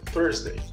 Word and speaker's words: Thursday: O bendito do TH. Põe a língua entre os dentes aí, ó. E puxa pra trás. Assim que você pronuncia TH. Põe a língua entre os dentes. Tá bom? Dentes de cima e dentes de baixo. Coloca a língua lá, entre os dois. Cima e baixo. Tá bom? Fecha a língua ali, trava a língua. Puxa a língua pra trás e você pronuncia o TH. Então, Thursday.